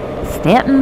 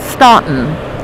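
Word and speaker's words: Staunton: you would pronounce it ston but that's that's that's how they know you're an out of towerer yeah they put the U in to confuse you yep and the uh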